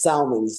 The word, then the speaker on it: Salmans: screw up your last name how do you pronounce it Wayne hey that's good everybody does Salmons there you go Salam Wayne welcome to the